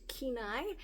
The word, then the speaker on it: Kenai: I have since learned that this color is pronounced Kenai, and the color I used for the drawstring is called Marsala, like curry marsala or tikka marsala.